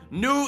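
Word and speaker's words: nous: end with a vowel nu is spelled n-o-u-s with a silent s why is there always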